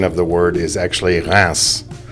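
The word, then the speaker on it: Reims: So the pronunciation of the word is actually Ras. It's nowhere close to reams. The way the French pronounce it is Ras.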